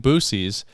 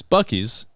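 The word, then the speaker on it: Buc-ee's: like we're finally here visiting boosies and it's bucky's and yeah so she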